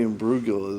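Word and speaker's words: Imbruglia: hand hit the dial probably not lastly natalie and brugel is that's how you pronounce her name torn i don't remember much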